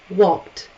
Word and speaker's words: walked: Is voiceless. It sounds like a T at the end. Walked. You could say walked, walked. It's okay. It's just easier to say walked. Walked? No. One syllable.